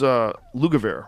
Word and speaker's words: Lugavere: Yeah, well, this is Lugavere, right?